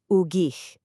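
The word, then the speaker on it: ուղիղ: Now, the pronunciation is ugich. That ending sound is a little throaty, kind of like the ch in the Scottish word lock.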